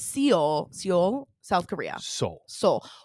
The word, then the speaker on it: Seoul: No, but it's Seoul, South Korea. Seoul. Well, it's spelled Seoul. S-E. Seoul. Okay, but it's spelled S-E. It's true. You know, like it looks like you would say Seoul.